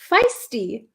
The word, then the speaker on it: feisty: this word before um can you pronounce feisty feisty feisty it's like a long ey feisty we had a lesson